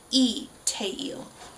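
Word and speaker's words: Lee Taeil: name is it a it is a straight up vowel of just the e sound so even though it's written Lee teil it is pronounced e te he's the voice of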